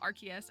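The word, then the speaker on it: Arceus: I had to force myself to start saying archus because I've like been on podcasts and I've made content about archus and if I want the Pokemon company to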